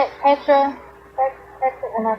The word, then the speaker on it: Phetra: Petra? Am I saying it right? Petra, yeah.